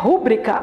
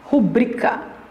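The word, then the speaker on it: rubrica: essa palavra não existe a pronúncia não é pública a pronúncia é publicar pública publicar pública igual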